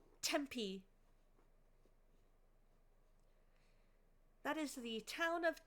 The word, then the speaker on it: Tempe: It is not a cooking pronunciation. Tempe.